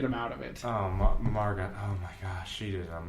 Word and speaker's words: Margot: Margot. Her name is Margot. Margot? That's how you pronounce it. G-O-T at the end.